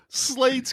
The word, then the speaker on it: Slade: I totally forgot Slade's catchphrase the entire movie. Let's hustle. You're welcome, Deadpool and Wolverine, for Let's Fucking Go, because Turbulence 3 is what inspired that. His name was Slade. Rhymes with Wade.